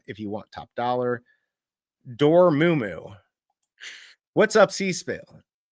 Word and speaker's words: Dormammu: Dormumu, what's up, Seville? Say it again. Say what? How do you say it? Dormamu.